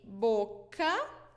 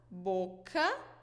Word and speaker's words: boca: So before the vowels A, O, and U, A, O, and U, we pronounce it with the sound K, K, okay? K. So you'd say boca, boca, which is mouth, boca.